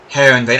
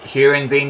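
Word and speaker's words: Heerenveen: supposed to pronounce her and vein. I know we we're tempted to say hearing vain because of the double E's, but in the Dutch language, the double E has a long a sound.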